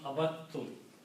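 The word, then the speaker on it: عبدتم: That's the reason when they come together, instead of pronouncing them separately, we just pronounce one letter twice. So we pronounce abattum.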